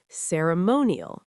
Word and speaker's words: ceremonial: Also, ceremonial, ceremonial. 4 syllables with stress on the third.